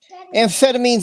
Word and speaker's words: amphetamines: Yeah, amphetamines is how it's pronounced.